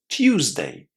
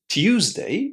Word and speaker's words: Tuesday: Tuesday. Tuesday. And what about this one? Thursday. Thursday. So, Tuesday is pronounced with the u sound in the first syllable.